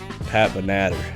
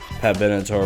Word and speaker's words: Pat Benatar: Number 4, Pat Benatar. That's how I used to pronounce her name before I eventually figured out that I am a complete moron.